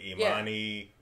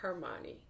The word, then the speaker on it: Hermione: You know, with Imani, Ron Weasley...